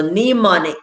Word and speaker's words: mnemonic: silent letters all right so mnemonic there starts with an m but you hear that n sound all right we're at